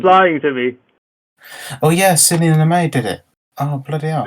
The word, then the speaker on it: Sidney Lumet: Sidney Lumet is how you pronounce the director's name.